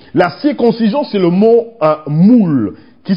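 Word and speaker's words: muwl: La circoncision, c'est le mot moule, qui s'écrit M-U-W-L, moule, M-U-W-L, c'est moule, ça signifie circoncire, ça signifie se laisser circoncire, ça signifie couper, ça signifie être taillé.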